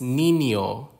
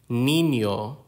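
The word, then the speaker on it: niño: or also in Spanish the next one is Nino Nino and Nino is a child male child Nino stress and syllable patterns Filipino is a syllable timed language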